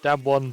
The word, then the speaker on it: Damwon: We had to ask before, and it was apparently just Dam One, but the other way around.